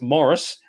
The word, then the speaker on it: Maurice: So I don't know about you, but as soon as I heard Maurice, now apparently it's pronounced Morris because it's English, not Maurice, but I say Maurice.